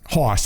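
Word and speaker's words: Haas: check me on that Hoss its Hoss H AAAS he mentions us a farm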